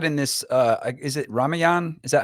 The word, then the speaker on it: Ramayana: this uh is it ramayan is that how you pronounce that series ramayana is it ramayana ramayana um you know